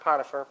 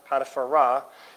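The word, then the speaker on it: Potiphera: She's the daughter of Potiphar, not Potiphar, Potipharah, and that R-A at the end of it means of Ra.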